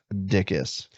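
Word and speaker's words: Dickes: Pronounced Dickus. Looks it is like spelled dicks. Dick. ES.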